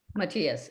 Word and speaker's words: Mattias: Mattias: Mattias Farzana: Mattias. Do you want to go first, Mattias? I'm open either way. Danielle Benzon: We're all being very Canadian here. Mattias: Okay, then.